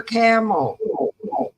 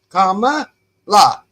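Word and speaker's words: Kamala: was doing today and he called her camel he goes camel and I and I thought you obviously wasn't at the debate because they told you how to pronounce her name it was comma comma la come he's doing it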